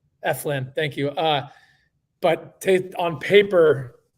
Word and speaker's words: Eflin: I think he's a better pitcher than, is it pronounced Eflin? Eflin, thank you.